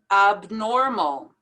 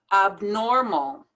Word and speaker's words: abnormal: treasurer treasurer hierarchy hierarchy abnormal be sure to pronounce that b abnormal vanilla we have to